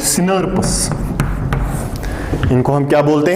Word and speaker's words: snRNP: Those proteins are called, so यहीं पे मैं लिखूंगा SNRNP, और इनको प्रोनाउंस करने के लिए वी राइट इट सिनर्पस।